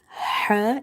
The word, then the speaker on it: ح: So for this Ha, remember to pronounce it from the middle of the throat. In order to pronounce it perfectly or correctly, you have to make the mouth wide open and you have to exhale the air out.